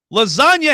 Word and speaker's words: lasagna: Texture says, "Never seen a G making an N sound. Ever heard of lasagna? Lasagna has an N in it, bro."